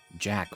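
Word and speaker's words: Jaq: Jack or Jacques was looking for that. Oh, wait. It's spelled J-A-Q, but I guess the pun there would be like Jacques the Rock.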